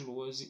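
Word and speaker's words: Lohse: Meu canal no YouTube é o Luozi. Luozi se escreve L-O-H-S-E, com Z, tá?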